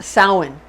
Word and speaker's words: Samhain: like it's spelled samhain but it's actually pretty pronounced samhain samhain it's spelled like sandman but we say